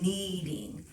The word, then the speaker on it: kneading: just doing something called kneading okay now that's actually spelled with a k k n e a d i n g and that's just a